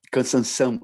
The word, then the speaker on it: cansanção: Yep, cansanção in Brazil. Called? Cansanção. Spell that.